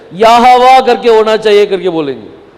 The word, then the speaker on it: यहोवा: मेरा नाम यहोवा है। ये यहोवा करके जो नाम है, ये अपन हिंदी में यहोवा करके बोलते हैं, लेकिन अंग्रेजी में क्या बोला जाता है? जेहोवा करके बोलते हैं, जेहोवा।